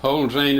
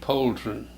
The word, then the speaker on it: Polzin: Yeah, Polzin is the way the German people pronounce it, like it had an E on it, but most people now pronounce it Polzin.